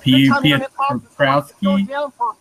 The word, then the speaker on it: Piotrowski: Jeff Pietrowski. I don't know his last name, how to pronounce it.